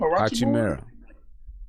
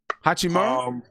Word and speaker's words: Hachimura: Hachimura. Yeah. Hachimura. I think Hachimura. Yeah, I think those three got the best chance to run Rookie of the Year. In my opinion. Hachimura?